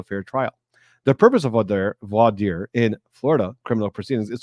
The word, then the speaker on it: voir dire: And I know some people take issue with how I'm pronouncing voir dire. Some people say voir dire, and I'm sure there's a lot of other ways to pronounce it, but that's how I've been trained.